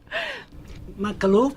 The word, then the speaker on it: Makhlouf: George and I'm going to ask them to pronounce their last names I'm afraid I'm gonna mess it up thank you Michael oof in a KH l o UF all right